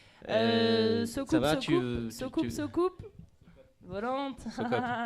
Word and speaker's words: Socoop: Mais ça s'écrit Basley. Basley. Ça va, tu... Socoupe. Volante. Socop. Socop.